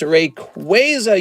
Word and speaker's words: Rayquaza: It's Rayquaza, you dummies. You've been saying it wrong.